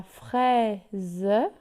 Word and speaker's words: fraise: La fraise, ici aussi le S est écrit entre le I et le E, donc il se prononce Z.